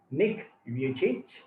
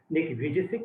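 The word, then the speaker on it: Nick Vujicic: change i remind you the pronunciation is a serbian pronunciation that is nick you change and native speakers call him nikki vijaysik no problem with that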